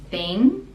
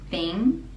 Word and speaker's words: thing: the same thing thing the ng we don't pronounce the g and it becomes a nasal sound thing thing I do the same